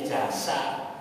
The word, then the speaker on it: jasa: sudah dalam bahasa Indonesia pengucapannya z jadi S ya makestinya jaza jadi jasa Ya sudah Ee enggak